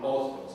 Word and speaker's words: Hostos: we have to say Hostos. Exactly. It's like that. You don't pronounce the H.